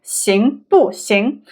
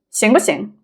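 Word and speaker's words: 行不行: For instance, if we say 行不行, if we say it very slowly, then it's 不, right? 行不行.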